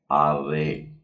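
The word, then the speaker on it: אריה: से लिखा जाता है: अलेफ और उसके नीचे आ की मात्रा है, फिर रेश है और फिर ए और ह है हल्का सा, जो उच्चारण में थोड़ा कम ही रहता है, इसलिए हम इसे पढ़ते हैं आरे।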